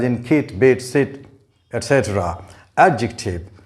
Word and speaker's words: adjective: kate bates it etc adjective the stress is on the first syllable this word is gerund